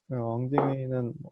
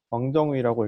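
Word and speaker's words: 汪精衛: 왕징웨이는 한자어로는 왕정위라고 읽고요.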